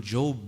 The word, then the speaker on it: Job: Ayub, who is known in the Bible as Job, J-O-B, spelt Job but pronounced Job.